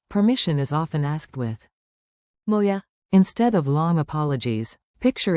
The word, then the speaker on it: Må jeg: A moya.